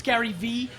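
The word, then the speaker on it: garyvee: of my career because I have two silent e in my Twitter handle it's Gary ve g a r y v e e uh but you're regretting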